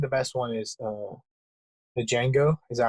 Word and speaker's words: Django: I want to watch Pulp Fiction, but I think the best one is the Django. Is that how you say it? Yeah, The Django Django Unchained?